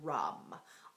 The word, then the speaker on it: ram: And its seed syllable or sound is rum. R-A-M.